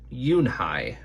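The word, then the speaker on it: Unhei: it's spelled u n h e i it's pronounced yoon hai oh it's you hey the boy said like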